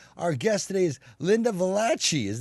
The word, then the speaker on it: Valliche: Our guest today is Lynda Valliche. Did I pronounce that right? It's Valliche.